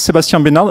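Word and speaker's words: Sebastien Benard: so with this guy so my name is Sebastien banal and thank you for pronouncing it right because even in France people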